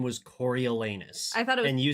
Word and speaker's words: Coriolanus: it's spelled corol l anus and it is pronounced Coro L anus it could not be more on the nose